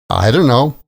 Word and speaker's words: I don't know: By the way, the most common and casual pronunciation of I don't know is I don't know. I don't know. The stress comes on the I and the T sound at the end of don't gets dropped. Don't becomes don't. And when you put that all together, you get I don't know.